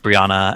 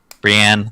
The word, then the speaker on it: Brienne: chat chapters that's like brianna and urbian brienne there we go i can say it correctly and jamie on the